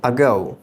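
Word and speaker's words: ago: সো এইগুলো হচ্ছে আইপিএ, এগুলো দিয়ে শব্দের উচ্চারণটি লেখা আছে। তো ফার্স্ট যে শব্দটি রয়েছে সেটি হলো আগো। আগো, আমরা এটিকে সাধারণত এগো বলে থাকি, এটির উচ্চারণ হবে আগো।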